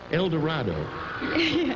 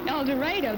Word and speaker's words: El Dorado: El Dorado. El Dorado, that's the Yankee pronunciation.